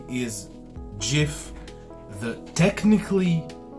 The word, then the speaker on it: GIF: brand jiff and so he intended the name to be pronounced exactly as the peanut butter brand jiff so according to the